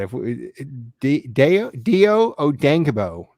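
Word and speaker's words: Dayo Odeyingbo: Dio Odengbo. Yep, that's how it's said.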